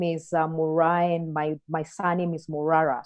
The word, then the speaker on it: Moraa: It's a real pleasure to welcome today's show the founder and CEO of Pezesha, Moraa. Sorry. I just had to check the name there, and I hope I've pronounced that right.